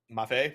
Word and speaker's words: Mafe: But we'll see exactly if Mafe, is it Mafe or Mafi? If anyone in the chat can give me a breakdown of how to pronounce it. Look at his in-game tag. It does have the little squiggle above the E, so I believe it is Mafe.